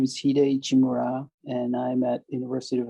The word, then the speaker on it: Hide Ichimura: Well, it is my pleasure to have on this week's episode of the Mixtape with Scott, Hide Ichimura. Hide, am I pronouncing it right?